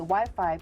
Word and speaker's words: Wi-Fi: up with the name Wi-Fi after its original name, Wireless Fidelity. It rhymes with high-five! High-five, Wi-Fi, high-five, Wi-Fi! In the Netherlands, you don't say Wi-Fi. We say Wifi.